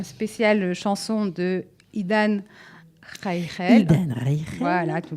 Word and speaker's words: Idan Reichel: Idan Reichel. Voilà, tu le prononces mieux que moi.